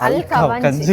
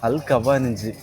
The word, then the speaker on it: Al Khawaneej: அல் கஞ்சி, இதை எடுத்து அல் கஞ்சி இல்ல, அல் கவாஞ்சி. சாரி, எனக்கு வந்து ஃபர்ஸ்ட் டைம் நான் இதெல்லாம் சொல்கிறேன்.